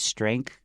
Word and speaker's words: strength: Strength and end it with a TH. 所以这边呢就是强调这个 posture，就是同学我们不管是站姿啦、坐姿啦，好，这样的一个姿势，我们就用到这个字，所以尽量不要驼背，对不对？像你看他这边就讲了，你如果唱歌啊，或者是去运动，都可以调整你的姿势。还有呢，那个 strength 的发音呢，特别要注意那个 en，那个 e 是 at 的这个发音，然后加上后面的那个鼻音，还有你的 th 位在尾巴，所以要记得舌尖要稍微伸出来。